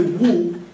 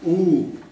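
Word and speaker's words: 五: like a oh so you don't hear the w as much as you're the oh like if someone someone got in trouble you'll say ooh that's the same as the way you pronounce number five so try not to say woo but it's really ooh even though there's a w in front okay so good job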